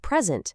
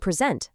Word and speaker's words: present: The exact same thing happens with present, the noun, and present, the verb.